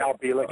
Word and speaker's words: Al Bielek: I want to talk just a little bit about Duncan Cameron and was it Al Bielek or Bielek? Al Bielek is how you say it.